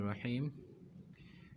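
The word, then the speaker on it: راء: এটা অনেকে বলে রা, এটা কিন্তু আসলে রা না, এটা হচ্ছে র।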